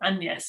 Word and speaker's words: Agnes: refers to her as my daughter agnes or and yes it would have been pronounced then and that was a